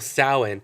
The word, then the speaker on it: Samhain: of the schloscar camp the Gaelic festival sowhen it's spelled Samhain widely observed in Ireland